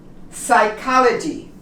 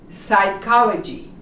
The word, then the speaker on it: psychology: don't pronounce the P psychology you start with the s psychology psychopath you do not